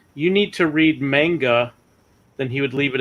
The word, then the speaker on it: manga: He says manger. Manger. Yeah, but he's trying to pronounce that as sort of some kind of traditional Japanese way, I'm sure. Because I just say manga.